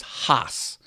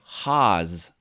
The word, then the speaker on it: Hasse: the correct pronunciation is Hoss like you're laughing ha ha ha but then you put an s on the end Hoss some people say Hoss like The Wizard of